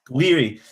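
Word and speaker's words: Gouiri: Two goals from uh, how do you pronounce his name? Is it Gueri Jiri Guiri? Guiri.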